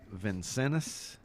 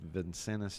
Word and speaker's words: Vincennes: looks like he's got vincennes i don't know if i'm pronouncing that that's right i believe that's v-i-n-n-c-e-n-n-e-s vincennes junior college yeah and lenny says